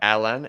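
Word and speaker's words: Alain: you haven't learned enough yes now I'm gonna butcher the name say the name for me one more time alen a l a i n and then it's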